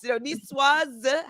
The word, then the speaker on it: Niçoise: So, yes, Niçoise has an E on the end. You would pronounce the S.